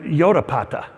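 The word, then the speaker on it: Jotapata: And so from there, they go up to Yodapata, just spelled with a J because of the Germans, also known as Yodfat.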